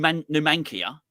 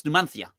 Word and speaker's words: Numanthia: they because it's like they don't in not pronounced like num numia it's numanthia that's how you numanthia and people won't say it so they'll say numia that's so I think